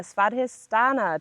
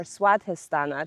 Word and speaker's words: Svadhisthana: So today um we are going through the second chakra in our series, the sadhistana chakra or swadhistana chakra. It's kind of pronounced both uh ways.